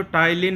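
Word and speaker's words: ptyalin: मारेगा अभी बताएंगे अभी यह जो टाइलिन होता है जिसमें पी साइलेंट होता है इसका काम होता है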